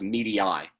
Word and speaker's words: Medii: So now there's a step in media group, and it's actually pronounced medii. It's Latin, like media with an E on the end, pronounced medii.